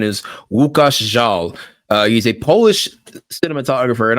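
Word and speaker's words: Łukasz Żal: But the cinematographer responsible for this Chloe Zhao film's beautiful looks is it looks like it's spelled Lukasz's Zhal, but the pronunciation is Łukasz Zhal.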